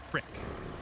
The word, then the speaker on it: creek: it's major major meit it's spelled Creek but pronounced prick okay but it's like